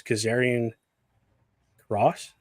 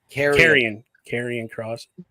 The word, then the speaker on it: Karrion Kross: That's Kazarian Cross. I think I said his name wrong. Carrion Cross. I did say Kazarian.